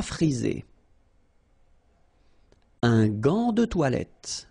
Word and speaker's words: gant: Un gant de toilette. Remember, G-A goes like ga, okay? G-g-g. But in that case, you've got this A-N, so it's nasal, gant, and then final T is not pronounced here.